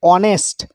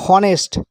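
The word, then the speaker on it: honest: এবার এই শব্দটিকে দেখুন, যদিও এখানে এইচ কনসোন্যান্ট প্রথমে রয়েছে, কিন্তু শব্দটা উচ্চারণ করতে আমরা বলি অনেস্ট, বলি না হনেস্ট।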